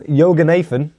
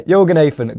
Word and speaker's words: Yoganathan: Yoganathan, because, I had to make sure there, didn't I? But yeah, Yoganathan got a red card in the 52nd minute,